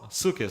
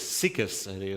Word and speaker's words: Sukkot: Uh on the morning of Sukkot, Sukus, Sikus pronounced it.